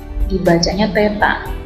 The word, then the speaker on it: theta: Ini tandanya seperti ini, kalau diperbesar dibacanya theta, begitu ya.